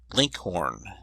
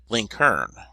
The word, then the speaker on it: Lincoln: in Virginia and Kentucky his name was commonly pronounced Linkhorn and in Indiana link Hearn the usage was so